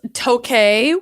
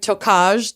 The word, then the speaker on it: Tokaj: It's Tokaj, which looks like Tokaj, Tokaj, but I looked up the pronunciation.